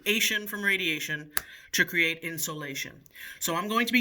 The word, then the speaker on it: insolation: The word is insolation. Insulation. It's pronounced insulation, but this is not like what's behind your walls. This is not insulation with a U.